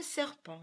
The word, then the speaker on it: serpent: Alors, pour le mot serpent, je t'ai donné un indice en te disant que serpent avait une lettre muette et c'était la même que parent et dent.